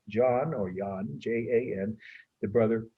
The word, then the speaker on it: Jan: and hubert von aike some people would say jan but that's the english pronunciation they were uh well